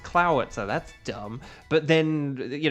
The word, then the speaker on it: Clawitzer: And if you're saying, "Isn't it pronounced Clawitzer?" That's what I thought until I learned it's Clowitzer.